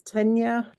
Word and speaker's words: Tegna: Tenya by, I think it's Caitlin Hunter. Let me see. Can you say the pattern name one more time? It's Oh, Tegna. spelled like that, but it's Tenya, and Mhm.